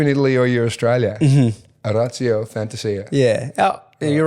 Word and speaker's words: Orazio Fantasia: In Italy, if we're in Italy, it would be Orazio Fantasia, which is a little bit, cringy when you say it, but that's, But that's your name.